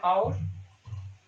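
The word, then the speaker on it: hour: Vowel से होती है, एच यहाँ पे साइलेंट रहता है। जैसे एन आवर, ठीक है, an honest man, honourable कोर्ट, etcetera.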